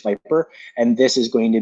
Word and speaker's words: Vyper: It might be VYPER, just Viper.